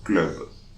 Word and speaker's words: club: But the B here, we are going to pronounce club.